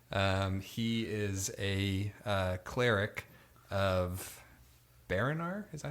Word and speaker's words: Baranar: He is a cleric of Baranar. Is that how you say it? True Silver? Yes. Baranar, True Silver.